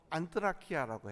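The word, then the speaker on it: ἀνθρακιά: 그리고 그 숯불, 그걸 그리스 말로 안트라키아라고 해요. 한번 발음해 보시다.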